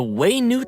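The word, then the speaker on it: Wayob: The Waynute Slayer Cannon, huh? It's pronounced Waynute.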